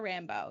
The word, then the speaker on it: Rambo: Today on the podcast, we have Taylor Rambo. Yes, Rambo is the correct pronunciation of her last name.